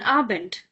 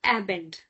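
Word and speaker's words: Abend: Please don't say a bend because I know we have this habit of a a pronouncing it as a but now it's not a it's a so a bend which is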